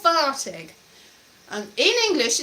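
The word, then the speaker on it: Varteg: double f double f the sound for v is one f one f so that's very important there's a place called vartig and in english it's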